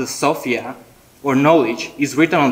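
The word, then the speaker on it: σοφία: The Greek word pronounced sophia, or knowledge, is written on the scroll.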